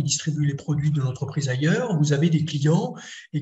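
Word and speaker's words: Haier: exemple c'est l'entreprise ailleurs donc ailleurs ça s'écrit H a I e r pas comme ailleurs oui exactement et sinon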